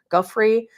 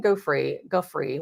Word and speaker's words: Giuffre: Giuffre.